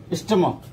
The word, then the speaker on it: stomach: Stomach. We can see the example, stomach. We can see here the pronunciation of this ch is k, stomach.